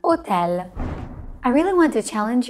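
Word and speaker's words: hotel: AA is always silent so we never pronounce it like we do in English even in foreign words like otel I really want to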